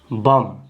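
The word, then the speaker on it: bomb: से इसको क्या पढ़ेंगे यहां पर देखिए बी साइलेंट होगा तो क्या पढ़ेंगे बम क्या पढ़ेंगे बम बम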